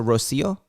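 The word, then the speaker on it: Rocío: saying your name wrong is it rocio that's correct okay so rocio like what is it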